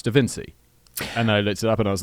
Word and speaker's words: da Vinci: do an entire video pronouncing Leonardo da Vinci Evan see ya and that was I was like no it's da Vinci and I was like